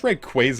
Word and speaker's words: Rayquaza: well cuz I think is that like rayquaza is supposed to be like Ray and quasar is I guess what's suppose we said like I guess rayquaza is correct but I